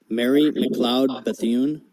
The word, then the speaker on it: Mary McLeod Bethune: So I chose my presentation on Marie McLeod Bethune, and I have a video actually on how to pronounce her name, and this is it. Mary McLeod Bethune.